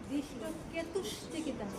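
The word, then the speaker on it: ধৃষ্টকেতুশ্চেকিতানঃ: হ্যাঁ দৃষ্ট কেতুস চটা উচ্চারণ হবে। ও আচ্ছা, এই জন্যই উচ্চারণটা দেখতেছি। দৃষ্ট কেতু চ। না, সবাই কথা বলবে না, এই উচ্চারণটা সবারই গন্ডগোল। হ্যাঁ, কারণ এটি সংস্কৃত উচ্চারণ তো। দৃষ্ট কেতুস, ওই যে চয় তালিবস্বর চ, তাই দৃষ্ট কেতুস। কেতু চটা পড়ে না, কিন্তু উচ্চারণটা হবে দৃষ্ট কেতুস চিকিতান। ও, দৃষ্ট কেতু চিকিতান।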